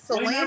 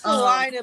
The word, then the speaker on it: Salina: we get uh salinaa we called it Salena don't know if it's salinaa or Selena it's salinaa but even the news